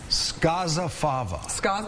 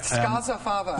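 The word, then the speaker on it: Scozzafava: Skozafava. Not Skoza? No, and you can be one of the downstaters who says it correctly. Yeah. That O is pronounced as an A. Skozafava.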